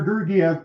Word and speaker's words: Georgiev: I'm sorry, John, can you pronounce his name for me again? Yeah, Alexander Georgiev played off the back-to-back last night with the Blackhawks.